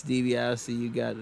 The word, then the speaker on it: DiBiase: Dan, it's DiBiase. You got the name wrong, silly.